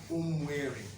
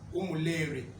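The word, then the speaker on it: Umueri: to tell people about Umweri. You know, some people used to mispronounce the name Umweri. Some of them used to call it Umuleri. Some used to call the name Umuneri.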